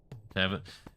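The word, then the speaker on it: Cavan: Close to this, but Kevin.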